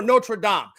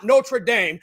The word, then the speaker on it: Notre Dame: being right and that I know how to pronounce Notre Dame or nraam not notra Dame like you do because you refuse to recognize one of those words is a French pronunciation and one of the other is an English pronunciation combining it makes no sense and sounds foolish welcome to the English